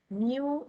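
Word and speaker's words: μ: from original normal distribution new this is this is uh this is called new you know the way how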